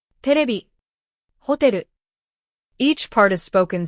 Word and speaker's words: テレビ: Katakana words are pronounced evenly, with no strong or weak syllables. For example, camera, terebi, hotel.